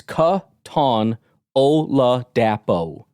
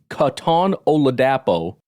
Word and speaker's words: Katon Oladapo: Beast guy cuz I'm like how do you pronounce it it's Katon oladapo Katon oladapo is the ideal fit for the Green Bay's